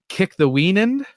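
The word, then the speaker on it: Kikthawenund: This is where I learned essentially this name that I'm glad I listened to the Saints version on audiobook so I'd know how to pronounce Kick-the-Weenan, which is the Kick-the-Weenan is the name of the Delaware Indians tribal leader.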